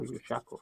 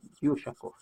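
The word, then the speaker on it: Ushakov: Kiraov, which was later renamed to Admiral Yusakov or Yusakov. I think it's pronounced Yusakov, I think. Don't quote me on that.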